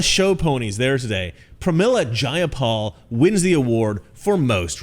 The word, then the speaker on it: Jayapal: takeover it was just jaya paul if you're going to say my name please say it right it's jayapal jayapal clearly these democrats